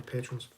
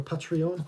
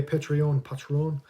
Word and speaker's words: Patreon: will speak to the patrons. For anybody interested, we do have is it called a Patreon? I don't know how you say it. I get told off because it's I call it Patron.